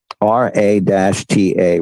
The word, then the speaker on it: Ra-Ta: R-A-T-A, Ra-Ta, and Tahote. It's usually spelled T-H-O-H, but it's pronounced Tahote or Tahote.